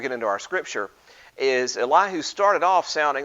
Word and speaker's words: Elihu: I said his name was Elihu, and it turns out that that was probably the wrong way to pronounce his name. His name actually should probably be pronounced Elihu.